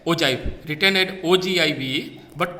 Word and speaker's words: ogive: So it is generally pronounced as ogive, written as ogive, but pronounced as ogive.